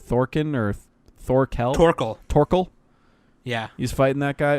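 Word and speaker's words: Thorkell: Torkel. Yeah. He's fighting that guy. Well, it's like written Thor, but it's pronounced Tor.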